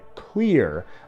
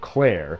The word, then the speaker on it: Clear: I said Clear. I'm not mispronouncing the name Claire. I am very clearly saying the word clear. And that is her name.